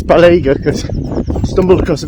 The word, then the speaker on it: Balega: YouTube this morning, and I heard it pronounced as Balega. It's definitely not that. Balega, I'm not sure, but I believe it's Balega, because I stumbled across